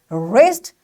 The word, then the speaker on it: wrist: so this wrist again w is followed by r that's why we will say rest and this w is